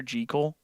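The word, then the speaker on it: Jekyll: Jackekal and Mr. Hyde. You guys want to hear something crazy? Apparently, it's supposed to be supposed to be pronounced Dr. Gekle.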